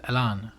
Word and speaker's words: Elan: Oh, actually, it's Elan. So it's but it's the you have to pronounce it Elan.